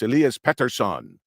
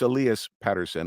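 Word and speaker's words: Elias Pettersson: think it should be pronounced here and it's Elias Peterson so I pronounce it that way um but it's Elias Patterson and of course now we just drafted another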